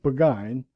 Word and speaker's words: Burgoyne: had a famous foxhound named burgoyne he pronounced it begin which my informant used